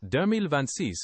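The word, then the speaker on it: deux mille vingt-six: Also, the year 2026 would be pronounced Dermil Vancis in French. Would you like to try it again focusing on those points?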